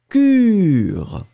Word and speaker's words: cure: U, hein, très étroit. Cure. Et le deuxième, beaucoup plus rond.